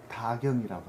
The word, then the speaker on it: 다경: 이렇게 많이 해가지고 근데 이걸 뭐라고 읽어야 돼? 그 화학교. 난 이런 거 항상 어려워. 다경이라고 합니다.